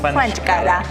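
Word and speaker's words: ხვანჭკარა: Khvanchkara. Khvanchkara. Yes. Am I pronouncing that right? Khvanchkara. Khvanchkara.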